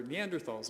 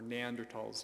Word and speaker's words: Neanderthals: There were Neanderthals in Europe, or Neanderthals, depending on whether you want to go with the German or the American pronunciation.